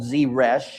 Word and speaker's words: Zeresh: He went home, calling together his friends and his wife, called Zeresh, is how you pronounce her name.